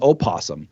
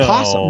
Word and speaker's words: opossum: Like somebody the other day told me that it's called an opossum. It's No, a possum. it's a possum. Nobody from south of Kentucky calls it an opossum. We don't even spell it with an O.